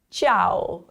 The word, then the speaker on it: ciao: Ciao. And if you notice, the I is slightly pronounced, and then the AO sounds like ow, ciao.